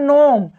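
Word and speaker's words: gnome: जैसे होता है नोम, देखिए नोम, तो यहाँ यन से पहले आया है जी, तो हम जी का उच्चारण नहीं कर रहे हैं, हम गुनोम नहीं पढ़ रहे हैं, क्या पढ़ रहे हैं, सिर्फ पढ़ रहे हैं नोम।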